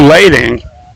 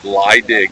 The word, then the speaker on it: Leidig: So Drew Lading. Leidig. I get the pronunciations for you. It's Leidig, no A. Leidig. Yeah, like pronounce it without the A.